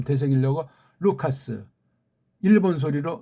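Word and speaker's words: Λουκᾶς: 자, 오늘 그래서 다시 한번 좀 되새기려고 루카스, 일본 소리로 누가, 아니, 카스라고 우리 보통 한 가지 이런 소리를, 이걸 어떻게 누가라고 음역을 합니까?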